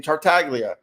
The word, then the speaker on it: Tartaglia: you man uh um you even pronounce it right my my man tartaglia man I went to school with some tartaglia so I know how to pronounce your last name tartaglia and that's a lot